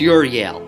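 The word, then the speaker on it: Euryale: her first epic but euro y'all yeah wait how do you pronounce it it's a real ear y'all wait what it's eu here let me quickly google it okay good so it's your yale everyone can agree on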